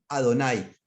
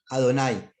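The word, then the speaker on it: אֲדֹנָי: el señor esto en el hebreo se dice ado nay adonay adonay es mi señor por qué razón por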